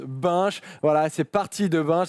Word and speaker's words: Binche: Il faut que tu le prononces bien. Oui, à Binche. Parce que hier, faut dire que j'ai fait une blague parce que ici à Paris, pour dire on prend une bière, on prend une binge et puis voilà, Nos amis belges ont cru que tu prononçais saccagé le nom de leur ville. Ce qui est normal après tout, mais effectivement ça se prononce Binche.